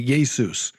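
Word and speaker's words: Ἰησοῦς: And and I I say that because I say Yesus all the time and if I can say Yesus I can say Yahweh. And just for the listeners that's the Greek way of pronouncing Jesus.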